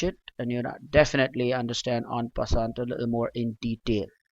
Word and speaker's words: en passant: that is what a fiango is first the pronunciation of this term on pant again it is French in origin and it